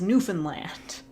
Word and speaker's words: Newfoundland: that anyway yeah okay I know it is New Foundland but I I feel like that's the wrong way to pronounce because everybody in my life always says newfinland nobody nobody ever says Newfoundland it's it's just a